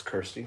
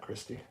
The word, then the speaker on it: Kirsty: Hello, Kirsty. It's Kirsty, not Christy.